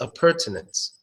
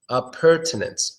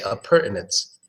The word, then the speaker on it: appurtenance: one is tricking because some people will pronounce it without the t of pertinence appurtenance I'm sure to